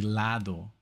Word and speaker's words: lado: And also the way he kind of pronounces some words on purpose, like lao would be lado, but they just says it lao, or like volao, which is volado. Like he skips that D, you know.